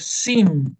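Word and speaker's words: שׂ: Si está de este otro lado, va a ser sin, va a sonar como una S, ¿ah? Como una S común y corriente.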